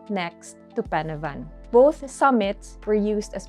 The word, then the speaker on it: Pen y Fan: The correct way to pronounce this iconic Welsh mountain is actually Pen-y-fan, which means top of this place, or summit